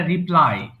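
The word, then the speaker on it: reply: না ওটা হচ্ছে রিপ্লে ওটা হচ্ছে রিপ্লে আর এটা রিপ্লাই ওটা কিন্তু রিপ্লে পুনরায়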